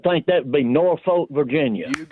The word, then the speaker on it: Norfolk: They kind of run it together and say Norfolk.